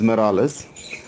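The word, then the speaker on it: Marullus: you have flavius and morales okay the spelling is m-a-r-u-l-l-u-s but the pronunciation as far as i know as i was taught is morales they are two uh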